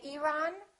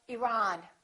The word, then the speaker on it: Iran: at the next one did you say Iran or Iran it should be the second one he's from Iran he's